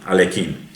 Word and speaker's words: Alekhine: Nos vamos a quien le ganó en el año 27, Alexander Alekhine, como se pronuncia, Alekhine.